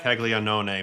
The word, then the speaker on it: Caglianone: Did you guys on Team Italy pronounce Caglianone the correct way or the American way? I think the correct way for the most part, Caglianone. Mainly because the Italians were like, that's really how you say his name.